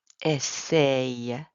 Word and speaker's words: essaye: Mes amis essayent des chaussures. Make sure you're pronouncing this right. It's only two syllables.